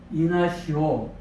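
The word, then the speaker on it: Ignacio: 시리아 안디옥의 주교인 이그나티오스, 헬라어로는 이그나티오스라고 하고 라틴어는 이그나티우스입니다. 영어도 이그나티우스 발음하는데 이것을 또 천주교에서는 에스파니아 언어로 바꿔서 이나시오 이렇게 또 지난 시간에 말씀드린 것처럼 바로 셈족, 또 게르만족, 또 북유럽이 되겠죠.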